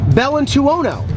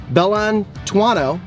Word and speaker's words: Bellantuono: from John Bellantuono or Bellantuono. John actually said that I pronounced his name almost perfectly, and then he broke it down. People from Chi-Town, Bellantuono. People from Italy, Bellantuono.